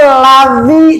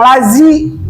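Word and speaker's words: الذي: Makanya kalau di surat Al Fatihah, shirotol ladzi, jangan lazi. Kalau lazi, gigi ketemu. Kalau ladzi, dzi, nah kan beda.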